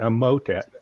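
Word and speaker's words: Emotet: this down um in e-m-o-t-e-t so i'd pronounce that a motet and what they are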